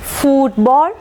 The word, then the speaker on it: football: അപ്പോൾ ആദ്യത്തെ ഈ 3 വേർഡ്സിനെ സംബന്ധിച്ചിടത്തോളം ഇവ 3 കോമ്പൗണ്ട് വേർഡ്സ് ആണെങ്കിലും we will mark stress on the first syllable. Blacksmith, football, bookshelf.